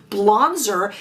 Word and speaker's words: Blonzer: Yes, I didn't mispronounce that. Blonzer. If you have not heard of this product before, it is a blush and a bronzer. Therefore, Blonzer.